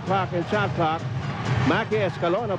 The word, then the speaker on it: Escalona: and shot clock Mackie Escalona By the way is in the hard C and the hinebra team